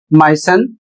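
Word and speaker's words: moisten: एम ओ आई एस टी ई एन और इसे पढ़ा जाता है माय सन और इसका अर्थ होता है नम करना।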